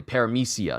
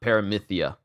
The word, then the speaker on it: Paramecia: But I will say it the way that it is said normally. Paramecia, not Paramythia. You're just a Paramecia.